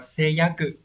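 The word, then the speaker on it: 誓約: Số 1 nhá, đọc là seiyaku.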